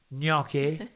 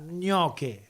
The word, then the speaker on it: gnocchi: Gnocchi. Don't say it like that. Gnocchi.